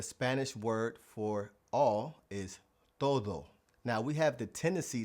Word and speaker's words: todo: So, the key to mastering the pronunciation of the Spanish D inside of a word is pronouncing it like the th like we have in though or the. todo todo So, the Spanish word for each is cada.